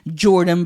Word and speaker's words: Bjordan: I'm the bad influence that you need in your life, Bjordan, and remember, I'm Jordan with a B because the B is silent.